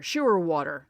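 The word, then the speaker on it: Scheurwater: lance barrett first base oh stew shoe water i remember sure water that's how you say it second base and jim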